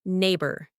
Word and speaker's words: neighbor: Take the word neighbor. Many learners confuse the spelling. It has that gh which is silent.